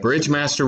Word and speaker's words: Bridgemaster: Do you want it to look like master, or does people pronounce it master, but it's spelled like Meister? No, it's Master. Okay, Yeah. Bridgemaster would be probably just Bridgemaster.